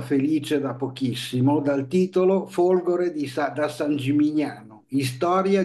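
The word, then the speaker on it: Folgóre: partiamo dicendo che Folgore che io chiamo Folgore non Folgore perché c'è una scelta precisa in quanto dagli anni 30 del 900 Si è pensato che fosse meglio con questo accento in quanto vuol dire fulgido fulgido Cavaliere fulgido poeta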